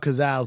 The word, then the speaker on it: Cazals: You talking about Gazelle? You're talking about Cazals, but you're saying it incorrectly, like everyone did. Gazelle. This one, I'm gonna give you this one because everyone said it wrong.